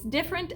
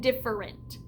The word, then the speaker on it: different: Now remember, I told you could pronounce this 2 different ways, different and different. When I'm spelling the word different, I like to say different in my head, even though when I'm talking in conversation, I say it different with 2 syllables, different.